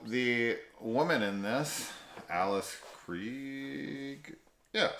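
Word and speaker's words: Krige: So the woman in this, Alice Krieg, yeah, said it right.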